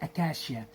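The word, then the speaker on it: acacia: سي اي اسمها ايه اكاشيا اكاشيا ليه عشان للاسف بقى الاتنين دول الحرفين دول تنطقوا ايه ش اكاش اكاشيا كاشيا تري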